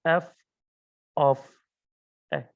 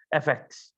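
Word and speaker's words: f(x): How we read it, we pronounce it as f of x. Right, so I don't want to, hear all this saying fx. It is f of x.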